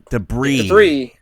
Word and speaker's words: debris: that was de debris is it debris disc or debris disc debris right because that's how you read words sometimes there's a silent s yeah I'm guess I'm